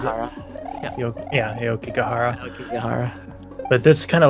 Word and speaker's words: Aokigahara: Is that how you pronounce it? Yeah, Aokigahara.